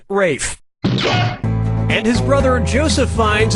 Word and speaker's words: Ralph: this yeah ray Fiennes first name is spelled like Ralph but pronounced Rafe and his brother Joseph